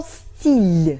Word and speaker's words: стиль: And for example — стиль . Л is before soft sign and it's soft — .